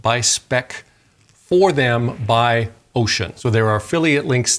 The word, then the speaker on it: Wouxun: soon wukson is pronounced ocean the w is silent and the x is pronounced so it's the ocean kg 1000 g radio